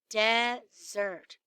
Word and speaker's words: Desert: on an island called mount desert she pronounced dessert ice cream cookies brownies